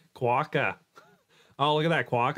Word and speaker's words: quokka: quoka instead of quokka quokka sounds like the word squawk I still want to use quote because that's what I've been using for years sounds like you're saying the word cracker in an Australian accent quokka oh look at